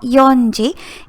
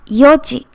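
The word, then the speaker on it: 四時: yoji be very careful it has a different pronunciation it's not yonji it's yoji six o'clock seven o'clock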